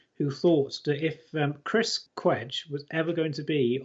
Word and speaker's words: Cwej: And speaking of Chris Cwej or Chris Cwej, depending on... Yes, I think he pronounces it Cwej in this book.